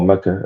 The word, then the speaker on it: Mecca: Um or Mecca as it's actually pronounced.